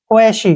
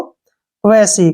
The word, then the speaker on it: quasi: इसको हम QU को उच्चारण क्वे करते हैं, ए का उच्चारण ए की मात्रा हो गया और एस को स लिखते हैं, वाई का ई, क्वेशी, क्या पढ़ेंगे इसको? क्वेशी।